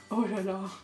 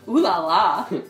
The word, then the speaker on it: oh là là: Oh là là. Oh là là, prononcé. Comme une américaine, on dit oulala.